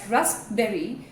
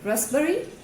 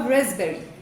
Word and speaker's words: raspberry: So if you have been pronouncing it as raspberry, I'm sorry to say this is not the right pronunciation. The right pronunciation is either raspberry, raspberry or raspberry with a z sound, a slight z sound.